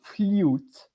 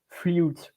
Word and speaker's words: flûte: Tu T te sorry so it's the same but in English but not pronounced the same flute flute and it's with the